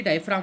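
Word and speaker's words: diaphragm: यहाँ पे नीचे ये डायफ्राम होता है, आप देख रहे हैं डायफ्राम होता है, ठीक है, यहाँ जी वो होता है, साइलेंट होता है, डायफ्राम होता है।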